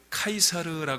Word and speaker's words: 카이사르: 옛날에는 저라고 부르는 사람이었고 요새는 라틴어 발음에 더 좀 가깝게 카이사르 부르는 사람 있어요이 사람은 로마 왕국이